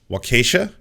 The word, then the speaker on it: Waukesha: Waukesha. That the pronunciation.